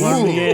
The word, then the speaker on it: Cormier: Cormier. Very good. Pulling out the French pronunciation here.